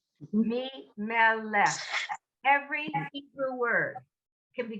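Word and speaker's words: מלך: The first syllable is the me. The second syllable is the meh. And the third syllable is the lech. Me, meh, lech.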